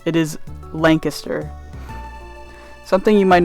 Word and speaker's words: Lancaster: A side note is that Pennsylvania's Lancaster is pronounced differently than Lancaster in California. It is Lancaster.